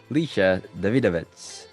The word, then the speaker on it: Lisha Davidovits: have a very special guest on board coach lisa davidovitz so did i pronounce that right yeah yeah you nailed it